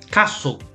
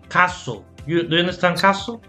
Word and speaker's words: castle: to reach the caster castle castle remember the the t is silent castle castle okay so remember the t the letter t is silent castle okay what's the